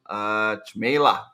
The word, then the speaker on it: Cmejla: He's working for the brand you already know, I think, from LinkedIn, called Chili Piper, and his name is Cmejla. Did I pronounce it right?